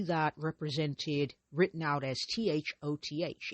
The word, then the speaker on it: Thoth: Uh you'll see that represented written out as t h o t h. It's pronounced Thoth or Thoth but not Thoths.